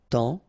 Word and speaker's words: temps: And then temps, okay, so in that case, it's only the nasal here that you will hear, temps, okay, because the P is not pronounced and the S is not pronounced.